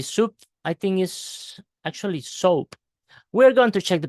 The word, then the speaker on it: SOAP: let's go ahead with this soap soap is soap soap soap is the correct pronunciation so which do nor appies are found